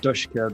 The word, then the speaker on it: DShK: which they often are pronounced dka because it's a bit of a play in Russian on the name for sweetheart and it's a big